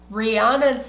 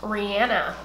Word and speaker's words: Rihanna: that protip for you Rihanna's name is pronounced Rihanna just saying just saying if you search down the internet and find somewhere where she says name she pronounces it Rihanna okay so um yeah